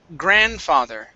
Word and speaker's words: grandfather: go to the word grandfather grandfather so we do not want to pronounce the d here in the middle it's grand father try